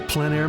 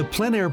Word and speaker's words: plein air: This is the PleinAir Podcast with Rhoads, publisher and founder of PleinAir magazine. In the PleinAir Podcast, we cover the world of outdoor painting.